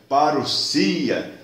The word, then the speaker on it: parousia: A palavra que está escrita parousia, que se pronuncia parousia, significa vinda, chegada, presença, volta, visita real, advento, chegada de um rei.